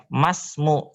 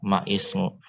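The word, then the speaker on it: ما اسم: Nah, kemudian masmu, cara bacanya masmu bukan maismu.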